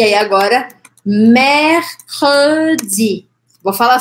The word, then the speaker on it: mercredi: Quero realmente que você separe o C do R até. Você vai falar assim, mer, k, k, k.